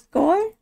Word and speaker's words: går: Walking, walking, I think is går. Yep. Går, kind of like going, but with an R.